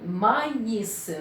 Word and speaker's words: maïs: Maïs, ici, pourquoi il se prononce? Parce que ici, on a le I. Le I avec le tréma. Ça aussi un accent. Ça aussi, un accent est appelé, cet accent est appelé tréma.